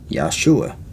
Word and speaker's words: Yeshua: spirit then just look at the works of yeshua or yahshua as it's sometimes pronounced just talk about how he braided a